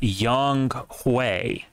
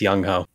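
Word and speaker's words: Younghoe: was born in Seoul and his name is pronounced Yong hue so it's young ho yeah you're damn right it's yongo all right uh Green Bay Tampa Bay this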